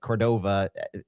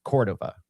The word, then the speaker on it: Córdova: I've got I've got the muscle memory on on that that I've been pronouncing it Cordova for so long that I need to retrain myself. It's Cordova with a a hard core.